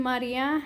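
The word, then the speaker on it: María: So the I in Maria has an accent. So it turns that normally weak I into a nice strong sound and lets it separate from the A. So A is your last syllable, E is your second to last syllable, and Ma is your third to the last syllable.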